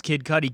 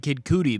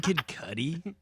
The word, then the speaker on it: Kid Cudi: Or making fun of your friend because he pronounces Kid Cudi Kid Cootie because he's never heard it pronounced yet.